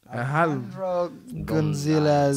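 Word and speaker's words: Alejandro González: Yeah, And that's that guy who I just can't pronounce his name, Guanajo, he won a lot of awards. Handro. Alejandro Gonzalez.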